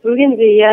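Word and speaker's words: bougainvillea: Bugan villia.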